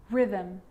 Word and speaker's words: rhythm: g or r now most of the time ch is pronounced ch but on small occasions or rare occasions it's not pronounced the h is silent so it's choir choir echo echo with a g ghost ghost and with an r rhythm or rhyme good news the i